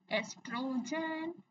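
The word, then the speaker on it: oestrogen: एस्ट्रोजन कहीं-कहीं आपको यह इसकी spelling O ई एस टी आर ओ जी ई एन दिखेगी। लेकिन इसको प्रोनाउंस हम इसी तरह करते हैं।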